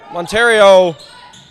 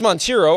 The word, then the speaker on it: Montero: Monterio. Excuse me, that's Montero. I pronounced it wrong the first time.